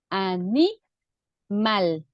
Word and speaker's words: animal: a vamos a separarla animal dónde suena el acento más fuerte mal ni Okay lo podemos